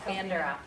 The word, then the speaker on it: Bandura: And is it Bandura? Is that the right way to say it? Yes, Bandura.